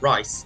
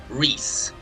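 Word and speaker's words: Reiss: That's how you pronounce it, Rice, not Reese.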